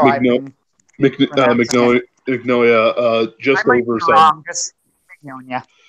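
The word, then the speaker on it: Mignogna: How do you pronounce his last name? Mignonia. That's how Mignonia.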